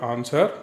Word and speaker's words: answer: in the answer answer so w is the silence silent letter in the word answer which one is a